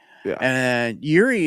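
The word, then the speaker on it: Jiří: Just His first name is J I R I, so just Yuri.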